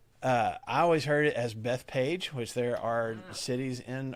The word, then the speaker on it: Bethphage: Some people call it Bethphage, Bethphage, I think. So maybe that's 4 altogether. But I looked it up, and it seems like, especially if you go back and read it in the Greek letters, it would probably be either Bethphage or Bethphage. Okay, so I'm going to try to make myself say Bethphage.